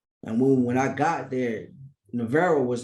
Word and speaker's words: Navarro: Am I pronouncing that correct? Navarro or Navarro?